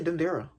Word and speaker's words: Dendera: Don't say it like that. Just say Dendera. Don't exert yourself and try and put an accent.